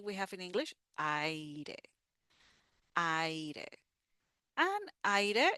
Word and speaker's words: aire: And then we have aire. The final sound is the e. Aire.